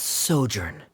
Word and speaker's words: sojourn: everything clear uh director's osimos how do you pronounce this word let me see Ah that's sojourn it means to stay for a while oh